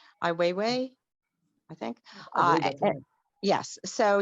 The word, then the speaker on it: Ai Weiwei: uh his son uh i way i believe is the pronunciation of his name ai weiwei i think uh yes